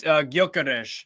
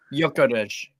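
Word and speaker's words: Gyökeres: so so actually um it's garish it's Hungarian actually not Swedish he is Swedish but he was he's obviously got some Hungarian descent what goas yeah I don't know how to say it yarish y y yeah yarish basically the G don't matter yeah the G yeah silent g y big out Curry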